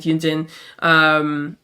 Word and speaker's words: Yunjin: Okay, it is Yunjin.